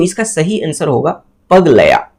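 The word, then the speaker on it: पगलैट: Best foreign feature award का जो बात किया जा रहा है, तो इसका सही आंसर होगा पगलया, इसका प्रोनाउंस ही यही है, पगलया, ठीक है, इसका सही प्रोनाउंस यही है, पगलया।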